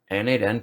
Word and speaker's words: n8n: n8n, pronounced n8n, is a workflow automation tool that connects your apps and services together.